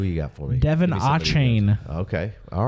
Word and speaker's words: Achane: Devon Achane.